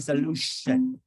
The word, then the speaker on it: solution: pronounced like sh in solution? Turn off the music. Pronounce the same as solution. Okay. Well, just one person get it correctly. Oh my goodness. Right. Solution. So T-I is pronounced sh.